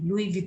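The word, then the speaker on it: Louis Vuitton: for example LV एक बहुत बड़ा ब्रांड है लुई वित जिसको हम बोलते हैं एलवी लुई वित pronounce it इट इज the very very रे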